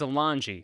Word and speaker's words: Alonge: Now, Jarrod Alonge, I believe is how you say his name. It's Alonge.